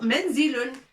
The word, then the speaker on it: منزل: Et ou menzilun.